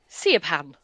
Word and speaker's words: Siobhan: So like Bh is V pronunciation. So like that's why Siobhan the H is in Siobhan. Seaban.